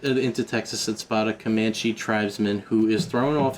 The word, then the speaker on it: Comanche: They then travel into Texas and spot uh a kamach Oh, kam kamanche. Is that how you say it? Drives. Comanche.